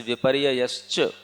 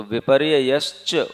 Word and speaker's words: विपर्यय: फिर एक आता है जैसे विपर्यय तो विपर्यय उसमें विपर्यय ना विपर्यय तो उसमें दो या आ जाते हैं तो उनका उच्चारण स्पष्ट होना चाहिए विपर्यय है ना इस